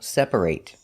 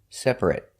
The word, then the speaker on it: separate: and sometimes pronounced it if it's a verb it's pronounced eight example separate if it's not a verb an adjective for example it's pronounced it separate we're going to practice